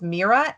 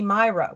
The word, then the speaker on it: Mira: no one could mispronounce it's mira m-i-r-a and of course people call me myra which would be spelled with the y so i have to